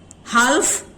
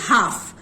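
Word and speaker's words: half: Walk, talk, हाफ, हाल्फ नहीं होता, इट इज हाफ। सो एल का साउंड तीनों शब्दों में साइलेंट है।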